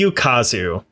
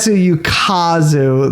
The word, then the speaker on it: Ukazu: I would love to talk to this person because I suspect that is not how her family pronounces her name, because the way she says it is with like a perfect Midwestern American accent.